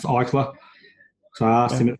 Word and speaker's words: Eichler: But I know it's with an E-I and it's pronounced Eichler.